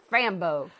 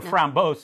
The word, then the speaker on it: Framboise: brewery and the lindeman's frambozay from uh belgium you can also just call it frambo or or from bose nobody can say it right anyways but please stick